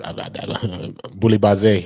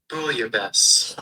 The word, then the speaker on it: bouillabaisse: That's boulabase.